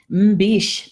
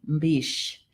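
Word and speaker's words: mbish: good Margaret's saying water Beac that's how you say it in Potawatomi Beach it spelled m bi SH mmm B Sh I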